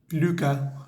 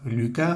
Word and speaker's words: Lucas: la nuvel ec de Luca Luca los nombres que terminan con s no se pronuncian bueno en este caso la s no se pronuncia Lua la nuvel éco